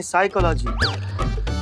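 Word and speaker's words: psychology: तो साइकोलॉजी नहीं साइकोलॉजी P silent होता है।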